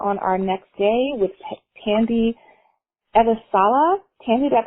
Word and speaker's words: Tandy Elisala: seminar we are on our next day with tandy eva sala tandy that pronounced your name correctly you got it janine